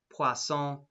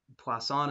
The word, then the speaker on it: Poisson: So that's pronounced Poisson. Poisson is close enough. I'd prefer not to hear Poisson or Poison, but Poisson is definitely acceptable. Permissible is close enough to the French.